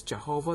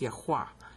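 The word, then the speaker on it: Yahweh: the sacred Tetro grammaton people think it's Jehovah that's a bunch of baloney the actual spelling Jehovah is only in the Bible like 49 times over 5,000 times it's spelled yaha right here is one of them okay so if you want to figure out the real name for God that's the sacred tet griton it's yahwa and it's vow pointed as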